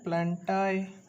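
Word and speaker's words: Plantae: चौथा आ जाता है प्लांटाई। कई बार प्लांटी बोलते हैं, प्लांटाई, कोई बात नहीं, मतलब प्रोनाउंसिएशन डिफर करता है।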